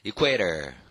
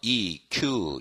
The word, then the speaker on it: equator: Equator. Equator. 스펠링 어때요? E-Q-U-A-T-O-R. 그러니까 쿠 발음이 또 들어가는 거야.